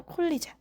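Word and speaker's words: collagen: 그런데 마그네슘이라고 읽는게 아니라 메그니시움 이렇게 읽는 거였어요. 콜라겐도 콜리젠, 이브로펜도 아이브로펜, 이케아는 아이키아라니.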